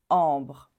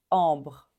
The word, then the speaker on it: ambre: B r BR ambre ambre on prononce pas le le E final on prononce pas du tout on s'arrête à au R ambre ambre celui-ci on dit